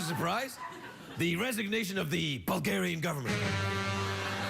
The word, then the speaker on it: Bulgaria: By the way, it's pronounced Bulgaria, not Bulge area.